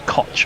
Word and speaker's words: Koch: or it might be Koch I don't know how Donovan Koch pronounces his name either he might is it CH at the end yeah it's k-o-c-h oh it will be caught he's South African I